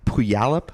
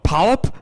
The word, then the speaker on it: Puyallup: So you're initially from, I don't even know how to pronounce this, Puyallup, Washington? So. Puyallup? Puyallup. Puyallup.